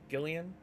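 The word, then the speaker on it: Guilliman: Gillian?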